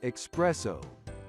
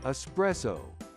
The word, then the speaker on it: espresso: wrong espresso again often mispronounced as expresso but the correct spelling and pronunciation is espresso with a s even if you get